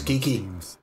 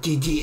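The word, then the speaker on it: Qiqi: Es Kiki. Oh, Gigi, es que no sé. El nombre que le pronuncia es Gigi. No sé, una mezcla entre la griega y el chi, por decirlo de alguna forma.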